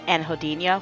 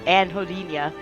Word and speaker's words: anhedonia: example of a pretty common negative symptom is anhedonia, which I'm probably not pronouncing right because I'm stupid, but it's spelled A-N-H, Jesus Christ, Anhedoni, okay? And you might recognize the word hedonistic in there, hedon. Yeah, anhedonia.